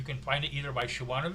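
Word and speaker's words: Siobhan: find it either by Shian the Fay spelled the way Shian is s i o b h an because it's Irish so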